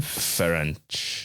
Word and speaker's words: Ferenc: Ferenc.